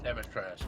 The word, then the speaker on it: Dimitrescu: It's Demetres, but no worry. Whatever. Is the U is silent.